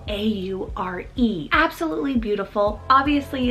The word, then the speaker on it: Aure: So this is the name Aure, spelled A-U-R-E.